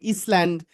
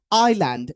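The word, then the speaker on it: island: লেখা আই এস এনডি অনেকে বলতে পারেন ইসল্যান্ড বা আইসল্যান্ড নট রিলি এটাকে বলে আইল্যান্ড। এস এর উচ্চারণটা এখানে সাইলেন্ট। মানে এস এর এস এর উচ্চারণ হবে না।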